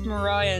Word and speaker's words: Maria: And while her name is spelled like “Maria” it’s pronounced “Mariah” in the musical, and I liked the name.